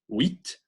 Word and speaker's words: huit: Huit, huile, en Suède. Répétez, huit, huile, Suède. All right, so when the U is followed by any vowel, it becomes that kind of W sound.